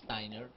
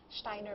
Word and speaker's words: Steiner: Yes, okay. Steiner. Not Steiner. Well, some will say Steiner, some will say Steiner, but mm-hmm. Rudolf Steiner, I believe, is the correct way of pronouncing his last name.